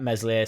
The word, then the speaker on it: Meslier: and passing it to mesle silent s it does made in I don't mind him playing out the ball playing out from the back but let meslier silent s take the goal kicks